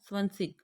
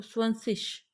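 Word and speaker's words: zwanzig: आई जी के हमारे पास जो है वो दो तरह की प्रोनाउंसिएशन होती है। एक है इग, दूसरी इश। इग, इश। हमारी मर्जी होती है कि हम जो है वो जो इग प्रोनाउंसिएट कर लें या इश। फॉर एग्जांपल हमारे पास पहली जो एग्जांपल है वो है स्वंसिग। अगर मैं इग से पढ़ूं तो स्वंसिग, अगर हम इश से पढ़ें तो स्वंसिश।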